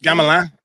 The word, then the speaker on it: Gamelin: Now, I probably am not going to pronounce their names correctly because I'm not very good at French, but Gamelin, is that correct? Gamelin. Yeah, Gamelin. Gamelin, yeah.